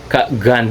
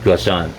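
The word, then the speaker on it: Ghosn: kay ah Carlos Carlos Carlos gun Gan daw ang pronunciation niya hindi goon So bago tayo nag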